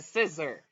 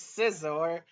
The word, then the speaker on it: Scizor: happened with Caesar well first of all season pronunciation it's a scissor it's Scizor freezing since we're freezing